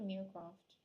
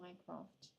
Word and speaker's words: Mycroft: No, it's not Meercroft. My recollection was Mycroft.